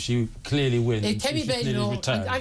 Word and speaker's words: Badenoch: If Kemi Badenoch, her husband told me it's pronounced Badenoch. I'm going with Badenoch.